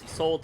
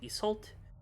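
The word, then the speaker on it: Isolde: Isa's actual name is Isold, sometimes pronounced Esult, which translates to she is gazed upon.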